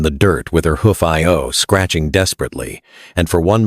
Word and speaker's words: Io: Io's human consciousness, her memories of language and love and identity, trapped inside a brainstem designed for grazing. She could think her own name, Io. 2 syllables, simple.